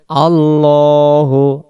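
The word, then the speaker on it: ٱللَّهُ: আল্লাহু।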